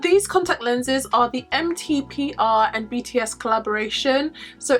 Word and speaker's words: MTPR: contact lenses are the MTP R and BTS collaboration so MTP R stands for metaphor so you should really pronounce it metaphor but I have it in my head that's just MTP r I think I have